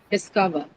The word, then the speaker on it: discover: Discover. Discover. Cur. CO. Yes, on cur, right? Discover will take it on a cur because this is again it is a PR.